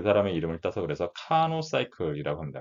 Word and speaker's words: Carnot: 그래서 원래는 영어식으로는 카노라고 합니다. 요 뒤에 T는 프랑스어의 뒤에 그 자음은 발음을 하지 않습니다. 그래서 이제 카노라고 읽고요. 또 여기 프랑스 발음에서 R은 발음을 해줘서 어떤 책은 카르노라고도 쓰고요. 영어식으로 읽으면 그냥 카노라고도 합니다.